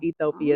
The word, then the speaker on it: Ethiopia: went to Ethiopia and they call it Ethiopia actually Ethiopia Ethiopia is how you pronounce it Tanzania is Tanzania Tanzania